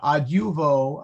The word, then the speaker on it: adjuvo: That's a long a consonantal I right before a short U. So adjuvo, it's hard to say.